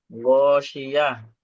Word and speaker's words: الغاشية: গশিয়া, শিন, শিন অক্ষরটি সিনের মতো উচ্চারণ হয়। غاشية.